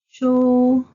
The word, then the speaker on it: 書: mark of tones, because the zhuyin shu is not marked with an intonation symbol, so it belongs to the first tone of the four Mandarin tones of zhuyin, then pronounced shu.